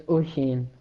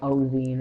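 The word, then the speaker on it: Oisín: Uh, it's Oshin. It's like it's hard to pronounce because All it's right. Irish. It's just, Well, I haven't been pronouncing it too badly then, I hope. yeah. Some people call me like Ozine and stuff.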